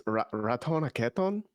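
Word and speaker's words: Ratonhnhaké:ton: It's Ratonaketon, I think is how you say that.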